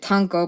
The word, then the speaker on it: Tonko: and his name is Tonko in icelandic you pronounce it tango but you can say tango like yeah but yeah so